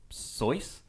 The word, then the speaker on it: Seuss: the pen name dr seuss okay so it looks like he might not be an actual doctor oh it rhymes with voice so soyuz is it not sus